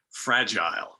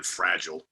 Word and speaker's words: Fragile: i've gotten used to trying to say it like the brits say it fragile which i think sounds a lot cooler than fragile fragile so i try to